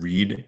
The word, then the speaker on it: read: That's how Hebrew is read without vowels, by context. Kind of like the English word read and read. It's R-E-A-D, but it's pronounced either read or read depending on what it is in the sentence.